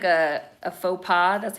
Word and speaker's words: faux pas: sorry because you know that's like a a faux pas that's how you pronounce it that's like a faux pas right now you know like shaking hands i